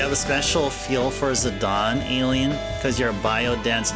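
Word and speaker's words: Zidane: I used to call him Zadane, but the way to pronounce his name is Zadon.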